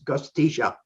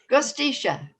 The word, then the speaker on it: Gostich: is if that doesn't work last name is gustisha gustisha right thank you very much and thank you